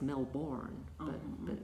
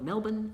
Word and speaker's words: Melbourne: yeah Melbourne and Brisbane even though it's spelt and it looks like on paper Brisbane and it looks like it's Mel born yeah we call it Melbourne and that's a Biloxi